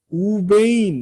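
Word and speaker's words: וּבֵין: 그래서 Vve인이 아니라 우베인 이런 식으로 우를 바꿔줍니다.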